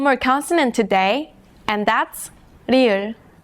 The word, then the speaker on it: 리을: Its pronunciation falls somewhere between the English L and R. Think about this shape like a marble rolling down a track. 리을.